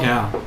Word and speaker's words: Cal: Cal. It rhymes with Al.